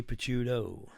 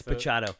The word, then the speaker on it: Pacchiato: How do you say his name? Pachuto Pachado? Pachado? Pachado. I say Pachuto. It's Pachado. So this Greg is Pachado. Recent I one.